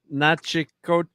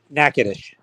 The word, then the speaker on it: Natchitoches: Nope, these guys are in Nachitoches. How do you say that? Nachitoches. God damn it. Natchitoches? Natchitoches.